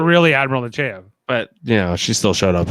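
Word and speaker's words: Nechayev: Natalia Nogulich plays Admiral Alina Nechaevich. No, how do you say her name? Nechaev? Nechaev.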